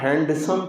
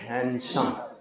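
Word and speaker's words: handsome: एम ई 96 पर आदमी ना हैंडसम पढ़ते हैं इसको जबक हैंडसम नहीं होता है डी यहां खामोश रहता है क्या पढ़ेंगे हैंडसम क्या पढ़ा जाएगा हैंडसम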